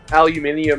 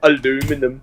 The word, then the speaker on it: aluminium: It's like how you guys can't pronounce aluminium and you go aluminum.